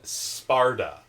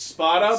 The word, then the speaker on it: Spada: was funny, too, how, they pronounce his name Sparda. That was actually an error made by the subs that you watched. No, but they pronounce No, it's Spada. Spada. Because, I know, because spot is Italian for sword.